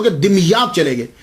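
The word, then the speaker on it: Damietta: तो ये सैयद जमालुद्दीन साउजी फिर वहाँ से मुंतकिल हो गए, दिमियात चले गए। इसके बहुत सारे प्रोनाउंसिएशन हैं, लेकिन सबसे जो आसान है वो मैं आपको बता रहा हूँ, दिमियात।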